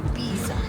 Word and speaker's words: Pisa: Say it like you're angry. Pisa.